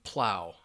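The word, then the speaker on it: plough: So Tale Teller says, yes, pronunciation, plow.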